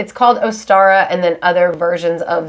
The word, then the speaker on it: Ostara: equinox celebration so um but ostara we're going to refer to it as astara even though in different